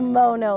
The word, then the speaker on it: Mono: location so uh or so I should say mono I always say it wrong the mono location so with the mono